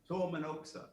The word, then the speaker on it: Tuomenoksa: Tormanoksa. Okay, and I like how you said it, and you pronounce it, is that the traditional pronunciation?